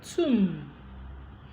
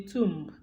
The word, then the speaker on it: tomb: position after ma example tomb so for people that call it I went to the tomb it is not tomb it is Tomb because B has been deleted Plum plumber so it's